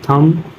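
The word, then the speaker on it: thumb: एम बी बम टी एच यू एम बी थम डी एच यू एम बी डम हम थम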